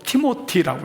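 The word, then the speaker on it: Timothy: 디모데는 영어로 티모티라고 해요. 티모티. 이걸 한글 번역으로 디모데라고 음역을 땄어요. 자, 티모티라고 하는 T-I-M-O-T-H-Y, 영어로는 팀이라고도 부릅니다.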